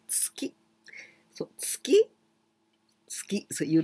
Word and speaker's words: tsuki: And there we say chokuzuki with zuki because there's some other word before. Then we pronounce zuki, chokuzuki, gyakuzuki. But if there's nothing before, we say tsuki.